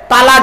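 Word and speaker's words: طلاق: গেলে একে অপরকে কি দেই স্বামী তার স্ত্রীকে তালাক দেয় তাইতো নাকি আরে বাবা বলুন না বউ যাবে না ভয় নেই আমি আছি এখানে অনেকে ভয়েতে বলতে চাচ্ছে না আচ্ছা চলো বাপ তালাক দিই শব্দটা কিন্তু তালাক নয় শব্দটা তালাক নয়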